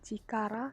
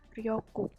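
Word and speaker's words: 力: Yang terakhir ada kanji chikara atau bisa juga dibaca ryoku. Kalau berdiri sendiri dia dibacanya chikara, artinya kekuatan.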